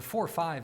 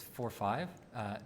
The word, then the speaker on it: ode45: on this approximation the 4 5 that you see in that function ode45 is pronounced that way it's 4 5 not 45.